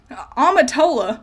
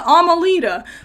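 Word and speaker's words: Amitola: the rainbow Ilia amatola which I found out I've been saying it wrong this whole time I've been calling her Ilia amalita and that's wrong the dyslexia has has screwed me over I've been reading her whole name wrong amatola means rainbow so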